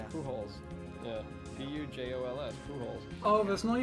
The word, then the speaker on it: Pujols: I like how like Wikipedia's like pronunciation it like makes it a point that it is pronounced Pujols. Yeah. As opposed to Pujols.